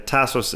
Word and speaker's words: Tasos: first sure i mean my name is tasos so that's the full name of my of my real full name anastasios and and tasos is the proper pronunciation is tasos so you know tas tasso tasso i've been called it all so you know sort